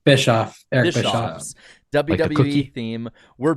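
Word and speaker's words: Bischoff: do you say his last name boffs oh bishof Bishoff Eric bishof WWE theme we're back and we're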